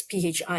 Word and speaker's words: phi: Phi, I think is pronounced phi, not pi, because pi is just pi.